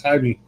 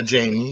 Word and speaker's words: Jaime: last name, I'm like, oh, that's Jaime. My neck of the woods, that's Jamie. Yeah, Jamie. You can say Jamie also.